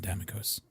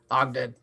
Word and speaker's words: Ogden: Also, Captain, not to correct you, but my name's not Damikos. Oh, fuck. Did I get your name wrong? Hey, I'm... guys, I wrote it down wrong. I'm Ogden. Ogden.